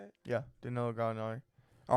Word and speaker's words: Gallinari: Yeah, Danilo Gallinari.